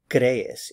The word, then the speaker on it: crees: Tú crees, you believe. Remember, this is the informal you. So the stress is on this first syllable, crees. Be sure to get the two E's in separate syllables.